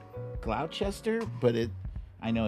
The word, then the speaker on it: Gloucester: stephaniel says it's pronounced gloucester i knew it like like worcester right worcester gloucester why they have to add these extra letters that are all silent anyway um i am told